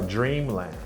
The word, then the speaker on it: dreamland: So dreamland, dreamland. I want to make sure they're actually aware that compound nouns, usually the first syllable is stressed.